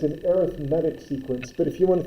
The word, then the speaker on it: arithmetic: word and you think arithmetic but the way it's pronounced in this context is arithmetic with the emphasis on the E for medic but uh so it's an arithmetic sequence but if you